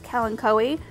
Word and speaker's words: kalanchoe: type of kalanchoe and you might have heard them referred to as kellen coe i honestly think it doesn't matter what way you pronounce it it's pronounced different in different regions and i've heard it pronounced both ways i love to